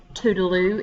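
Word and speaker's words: toodle-oo: see you later um if you've ever heard toodaloo it comes from a tutela are people mispronouncing that over and over again so a bientot see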